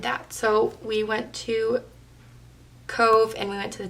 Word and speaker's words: Cobh: Thursday we went to Cove which is weird because it's spelled Cobh which I will never understand but it's just their language how they speak we went to a Cove which is where the